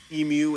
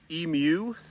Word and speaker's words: emu: i say the word emu incorrectly i am but a dumb american and i say it kind of how i say it uh so i know that the proper pronunciation is emu like a cat muse